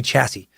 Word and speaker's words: chassis: the word chassis, and because I said it chassis, like I almost did there, and completely destroyed the pronunciation. Common pronunciation would be chassis.